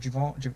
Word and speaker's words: Giveon: Is it Jivian? Javon? I don't know how to say it. Javon? I don't know who you're talking about. You know what I'm saying? You know what I'm saying? Giveon.